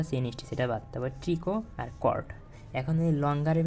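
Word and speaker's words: tricot: কি pillar chain pillar অথবা chain stitch তারপরে ট্রিকো টয় টি এর উচ্চারণ হবে না ট্রিকো হ্যাঁ ট্রিকো কর্ড আর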